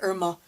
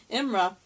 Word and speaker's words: Imra: One time, I called her Irma by accident, because I switched the R and the M. Imra, they explained how their ship came from the future.